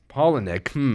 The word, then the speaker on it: Palahniuk: Palahniuk.